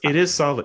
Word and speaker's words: Salim: Because I saw Gino Reda pronounce it Salim on a TSN feed, and I'm like, it is Salim.